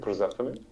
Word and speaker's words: Persephone: So let's say Persephone. Yes. I hope I'm pronouncing that correctly. And yeah, that's how most people pronounce it.